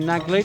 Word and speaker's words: Naglic: The speaker is saying Naglic, so I will join him in that pronunciation.